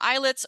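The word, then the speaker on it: islets: made up of the eyelets um and so you'll hear the term eyelets or eyelet cells and um note that it's it's spelled Isle TS but it is pronounced like eyelet like eyelid eyelets and each eyelid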